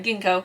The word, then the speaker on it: ginkgo: city of Genco leaves now is that Ginkgo I feel like I've been saying it wrong but I also might be saying right let's find out we're good I said it right Ginkgo this is by Christy